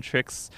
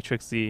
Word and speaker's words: TrickZ: called trick before it's it's always been tricks but uh or some people call me trixie because the capital z and yeah i guess they think that's how it's uh pronounced but yeah i can't